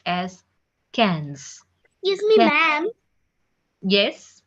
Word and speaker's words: quinze: 15 is pronounced as quinze.